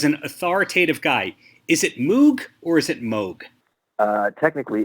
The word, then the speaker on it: Moog: became more of a commercial entity it was Moke for all intents and purposes but technically it's pronounced Moog so for example they had a keyboard called